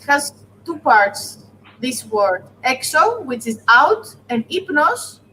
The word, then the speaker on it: ή: Just E.